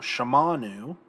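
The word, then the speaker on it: שָׁמַעְנוּ: The accent mark shifts to the 2nd syllable because we don't have that reduction here. So shamanu is we heard.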